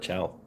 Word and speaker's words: Ciao: Ciao. Why don't they just spell it chow?